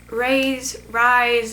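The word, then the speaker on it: Rhys: It's R-H-Y-S, Rise, whatever.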